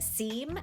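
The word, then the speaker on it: Xiem: I think the company that makes the nicer ones is pronounced Seam, X-I-E-M.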